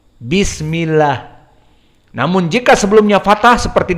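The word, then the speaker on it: بسم الله: Basmalah apa kita baca bismillah tidak Bismillah ya Lutfi bedakan Bismillah Dengan Bismillah beda mana yang benar bismillah karena dia sebelumnya kasrah jadi Abdul jalalah Allahnya tidak dibaca tebal bismillah namun jika sebelumnya fathah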